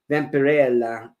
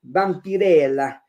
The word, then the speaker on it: Vampirella: uh how do you say that again Vella Vampirella Vampirella yeah and like a couple of those others